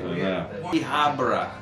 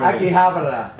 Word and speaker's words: Akihabara: Akihabara. Akihabara. Oh, man! Yes, that's not the way you said it. You can say yes, yes, how you want. Say it again, because I'll spice your other word. Akihabara.